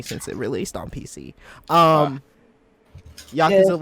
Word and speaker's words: Yakuza: Hey, y'all know it's pronounced Yakuza, right?